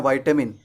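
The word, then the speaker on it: vitamin: अगर आप विटामिन कहते हैं तो ये गलत है, इसका सही उच्चारण होता है विटमिन। क्या होता है, विटमिन। इसे अमेरिकन इंग्लिश में हम कहते हैं वाइटामिन, लेकिन हमारे यहाँ ब्रिटिश इंग्लिश चलता है, तो सही प्रोनाउंसिएशन हमारे लिए क्या होगा, विटमिन। तो आज के बाद से आपको कभी भी विटामिन नहीं कहना है, क्योंकि विटामिन ना तो ब्रिटिश इंग्लिश में आता है ना तो अमेरिकन इंग्लिश में आता है। सही उच्चारण हमारे लिए होगा विटमिन।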